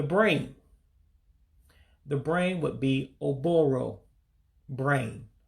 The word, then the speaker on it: Ụbụrụ: Blood, the life of it all, would be pronounced as Ọbara. Ọbara, blood. Again, that's Ọbara, blood. The brain. The brain would be Ụbụrụ, brain. Oh-Boe-Roe, brain.